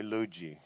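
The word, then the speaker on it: Lugee: name or cuz they used to call me Liu ji you know and my friends close friends still do well and it's spelled lu g ee was like short for luigi so they say Liu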